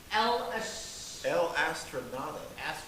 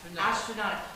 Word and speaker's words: El Astronauta: We are, and I cannot pronounce the band name. Please tell me how to say this. We can't either. El Astronauta. Astronauta.